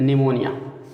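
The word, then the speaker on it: pneumonia: को भी मान लीजिए, तो निमोनिया पी एन से शुरू होगा तो पी साइलेंट रहेगा, इसमें एन से पढ़ना शुरू करेंगे, इसलिए न्यूमोनिया, ठीक है।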